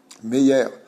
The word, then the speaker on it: Meyer: Quand tu dis Meir et Meir, c'est la même chose? Pareil. C'est une façon de le prononcer. Meir, Meyer. Meyer, c'est le français de Meir.